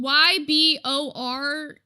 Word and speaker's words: Ybor: It's spelled Y-B-O-R, but it's like Ybor, whatever the fuck.